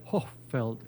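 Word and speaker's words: Hohfeld: Sí, Wesley Newcomb Hochfeld, Hochfeld, Hochfeld. Así que, bueno, en español no se pronuncia la H, pero sería H-O-H, Feld.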